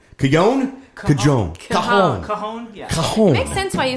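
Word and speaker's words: cajón: always say that wrong cuion make sense why you say that though because it's spelled like the j right yeah okay so see i've been spelling it wrong because i pronounce it cajon so i spell it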